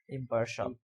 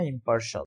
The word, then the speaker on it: impartial: ইম্পার্শাল। শিয়াল বলতে উচ্চারণ হয় না, ইম্পার্শাল। ইংরেজিতে কোনো শিয়াল নাই।